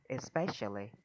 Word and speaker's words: especially: Nhấn âm 2, especially.